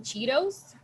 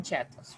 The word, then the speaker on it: Cheetos: or chetos English Spanish well in English we call them Cheetos Cheetos Cheetos okay and in Spanish we usually call them chetos right so okay it's